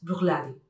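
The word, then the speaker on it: Bruichladdich: Si fijáis, al final casi ni se nota, es Brookladdich.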